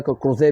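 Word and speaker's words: Crozet: सुंडा, सुकुट्रा, चगोस, बेन सेसेलिस, Madagascar and क्रोसेट। ये हो गया, क्रोजे भी बोलते हैं, ठीक है, साइलेंट है, क्रोसेट है।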